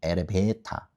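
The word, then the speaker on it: エレベーター: 엘리베이터 대신 엘리베이터는 발음이 어떻게 돼요? 일본 식으로 하면 에레베타거든요. 에레베타. 레까지는 짧게 가는데 배와 타가 이게 장으로 돼요. 근데 여기에서 뇌와 배가 높은요. 그래서 에레베타 에레베타 이렇게 되거든요.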